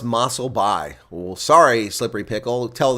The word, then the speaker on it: Mossel Bay: It's pronounced Mossel Bay.